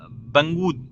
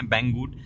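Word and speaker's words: Banggood: मैंने ऑर्डर किया था बंगू सॉरी बैंग गुड नाम की एक साइट से अभी मैं उसको हर बार बंगू बोल देता हूं लेकिन उसका एक्चुअल प्रोनाउंस है बैंगवुड तो बैंगवुड नाम की साइट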